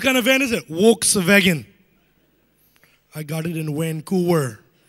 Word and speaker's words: Volkswagen: Volkswagen. I got it in Vancouver. Hey, by the way, you know it's supposed to be pronounced Volkswagen, right?